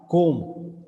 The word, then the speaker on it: comb: Sometimes comb, C-O-M-B, there B is silent.